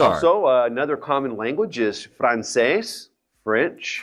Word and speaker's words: francés: Also, another common language is francés, French. Francés. Another accent on the E.